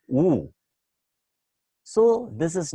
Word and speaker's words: eau: It is written EAU, but it is pronounced as oo.